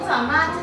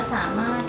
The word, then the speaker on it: สามารถ: รถ ของ รถ ลูก สามารถ เฉย ๆ ลูก คำ นั้น น่ะ เค อ่าน ว่า สามารถ ทำไม มัน มี ร ถ้วย อ่ะ เป็น คำ พิเศษ อ่ะ ลูก สามารถ ของ